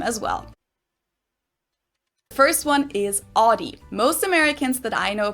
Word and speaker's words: Audi: it the right way audi right audi yeah not not that other audi i don't even know why you would pronounce it already it's not like odd why that doesn't make sense